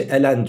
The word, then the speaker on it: ln: diyoruz okunuşu da lnx L harfini İngilizce'de el diye okuyoruz n harfinde en diye okuyoruz Böylelikle yan yana gelince Elen diyoruz yani öyle hani şu